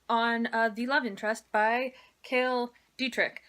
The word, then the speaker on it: Cale Dietrich: the love interest by Cael Dietrich apparently it is how you say his name no no - Kristin